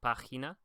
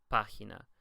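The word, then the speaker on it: piña: more like a sound so it's Pina but in most parts of Latin America and even in Spain whenever they're speaking more quickly a lot of times you'll hear it pronounced almost like an English a just Pina okay so just another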